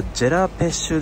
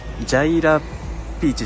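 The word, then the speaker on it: J'ai la pêche: ハカ 2 枚ゲットこれ読み方ジェラペッシュでしたねジャイラピーチじゃなかったで桃を持っ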